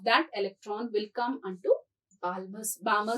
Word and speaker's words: Balmer: electron will come onto Balmer series. L is silent.